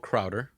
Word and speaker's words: Krauter: I want to thank Krauter. That's how you say your last name? That's how you pronounce it, Perfect.